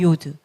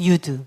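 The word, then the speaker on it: יוד: 그래서 요거는 요, 유, 여 이런 발음이에요. Y 발음입니다. 10번 이렇게 요드 또는 유드 이렇게 발음합니다.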